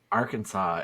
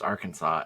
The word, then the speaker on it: Arkansas: that Arkansas is pronounced Arkansas and not AR Kansas yeah that one's with me a little bit before because it looks like it should be ar Kansas especially because Kansas exists like can you guys